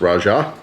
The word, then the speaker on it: Raja: one which is interesting or raha this probably house actually pronounced but everyone says Raja it is the three